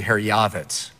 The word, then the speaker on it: Herjavec: your last name right herc you know the proper pronunciation you'll be the only guy to ever hear this on TV is actually har yavitz but my dad came